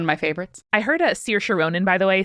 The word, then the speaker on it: Saoirse: I heard Saoirse Ronan, by the way, say that her name is pronounced Saoirse, like inertia.